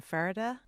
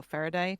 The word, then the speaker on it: Faraday: I am playing a pirate by the name of Morden Faraday, or Faraday, depending on, you can pronounce it either way, who sails aboard a ship called the Osprey.